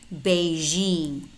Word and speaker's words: Beijing: Beijing. Beijing. Pay close attention to these words because normally we mispronounce them and we pronounce them sh, not zh.